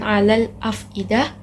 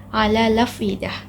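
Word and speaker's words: الأفئدة: mana ini membacanya dengan naqel naqel itu memindahkan huruf hamzah ke sukun sebelumnya memindah huruf hamzah ke sukun sebelumnya sehingga bacaannya menjadi alfidah bukan Alal Afidah tetapi Al lafidah selanjutnya perbedaan yang atau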